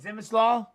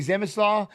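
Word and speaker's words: Przemysław: Zemislaw? Yeah, I just say Ranowski. I like the Runowski side, but maybe Zemislaw. The P, the R are silent.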